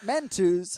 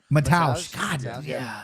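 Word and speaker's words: Mateusz: Man, how do you say his first name? Not Mentos. Hold on. Let me do it again. Mataus.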